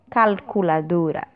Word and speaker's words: calculadora: Calculadora em espanhol nós chamamos de calculadora. Calculadora. Só modificar a pronúncia mesmo por conta da letra L que nós temos aí, certo? E também o som da letra O, que é sempre fechado em espanhol, portanto, O.